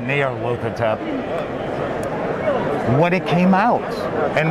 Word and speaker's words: Nyarlathotep: I always pronounce it Nyarlathotep.